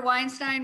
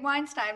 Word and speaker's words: Weinstein: do because i remember weinstein rhymes with einstein um i'll never forget that was the first hi my name is david weinstein rhymes with einstein um